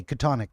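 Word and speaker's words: Chthonic: is the seal oh CH is pronounced with a K katonic yeah gotcha gotcha and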